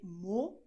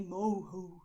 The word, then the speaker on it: morro: You're going to say morro, okay? You're not going to say moho or something like this, okay? We wouldn't say it this way in Brazil. We say morro, okay?